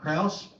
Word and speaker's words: Krause: I'm Kraus. It's spelled Krause, and I'm running to defeat Charles Grassley.